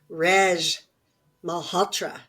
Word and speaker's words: Malhotra: Reg Malhotra.